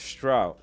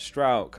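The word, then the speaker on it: Struijk: It's pronounced Strout Strout. Okay, Strout, got it. Pascal Strout. That helps, thank you. It's pronounced like the ow in crowd, Pascal Strout. Ah. Strout.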